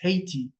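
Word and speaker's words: Ayiti: Dominican Republic and the western part people know it as I I think in English it's pronounced Haiti but it's pronounced I uh the whole island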